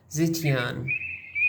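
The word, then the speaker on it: 再见: In Chinese, we say zetian, pronounced ze, like zebra, without the BRA, and qian, like a polite ninja.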